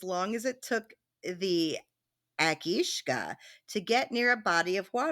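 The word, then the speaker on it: each-uisge: It looks like each usage, but it's pronounced Akishka Okay. in Scottish.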